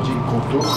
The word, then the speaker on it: G-Couture: De hecho, estoy colaborando también con una revista que se llama G-Couture, o G-Couture, que es la pronunciación correcta.